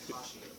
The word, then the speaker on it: Cauchy: I always say Kashi. Do you really? Yeah. It's traditionally pronounced Cauchy. It's awkward.